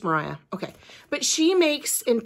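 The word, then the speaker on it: Moriah: me or Mariah Elizabeth I pronounced her name Moira because it's spelled m-o-r-i-a-h but her name is Mariah okay but she makes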